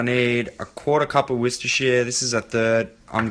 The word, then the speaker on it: Worcestershire: I'm gonna use some soy, salt, paprika, some cumin, and Worcestershire. I'm not that bloody stupid. It's actually pronounced Worcestershire.